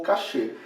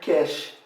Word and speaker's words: cache: seu cachê mas como na minha graduação os professores tem vários professores que tinham feito o doutorado na frança eles normalmente a pronunciar um novo cache e vários professores aparentemente os que fizeram doutorado nos estados unidos assim normalmente aqui no brasil pronunciavam cash tão ruim pronunciar cash você fique à vontade ta pronunciar como preferir daí depois tem os